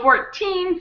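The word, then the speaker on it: fourteen: On 14, 15, 16, and all of the teens, the syllable, the teen syllable is stronger. So, 14, 15, 16, that's where the stress of the word is on the teen. and 40 50 60 has the stress on the first syllable.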